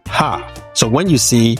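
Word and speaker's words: ห้า: The number 5 in Thai is pronounced ha.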